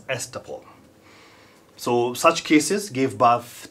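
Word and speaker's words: estoppel: promissory s all right this is pronounced as estupol so such cases give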